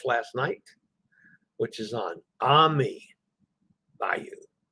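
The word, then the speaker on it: Amy: night, which is on Ami Bayou. It's spelled A-M-Y, but pronounced Ami.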